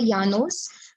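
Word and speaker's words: llanos: यानोस, LLALNOS, okay, यानोस, double L को य करके प्रोनाउंस करते हैं स्पेनिश में, don't ask मी व्हाई, सो यानोस, Campos and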